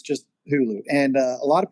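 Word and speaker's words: Huğlu: The G is silent. So to properly say Hulu, it's it's just Hulu.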